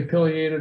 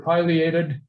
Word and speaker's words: pileated: your point of view, whether you say pileated or pileated. It seems to be either seems to be acceptable and interchangeable, even though I believe the correct pronunciation of what it's named for is that crest on top of its head, which I believe is properly pronounced the pileus.